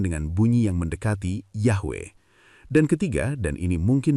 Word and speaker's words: Yahweh: Jadi transliterasi yang tepat secara historis adalah YHWH bukan YH dan pelafalannya adalah Yahwe bukan Yahve.